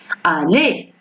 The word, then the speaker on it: aller: À la fin du mot ER. Ça prononce E. Aller.